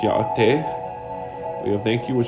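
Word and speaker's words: Yáʼátʼééh: We have hello, which is pronounced ya'ate.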